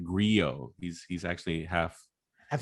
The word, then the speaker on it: Grillo: frankly actually he's uh his real name is pronounced frank griot he's he's actually half